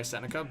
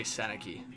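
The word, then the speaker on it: Sennecke: hockey this year so I know he goes by senica but like I'm hearing so many people say senaki like it's tripping me up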